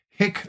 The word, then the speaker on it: HiQ: But this case, originally brought by LinkedIn against Hick Labs, I think I'm pronouncing it right, H-I-Q, a company that uses